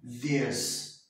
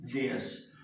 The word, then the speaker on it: this: Esse aqui a gente fala assim, ó, this, tá? O som de E, this.